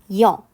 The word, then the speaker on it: 여: 이것 은 또한 " i" 발음 바로 다음 에 "eo" 를 발음 하는 것 입니다 . 입 모양도 여기 서 바뀝니다 . " 여 " 라고 말 할 때 , 아무리 빨리 말 해도 입 모양 이 약간 평평한 모양 에서 둥근 모양 으로 순식간 에 바뀝니다 .